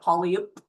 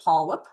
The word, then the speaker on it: polyp: Looks like polyup but polip.